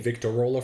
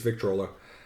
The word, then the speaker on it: Victrola: Thank you for the pronunciation correction. I was saying Victrola for some reason. It's Victrola.